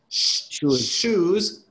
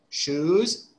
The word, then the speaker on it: shoes: choose food right and the pronunciation the beginning is different shoes choose you see there's there's a small there's a difference in pronunciation shoes choose okay uh then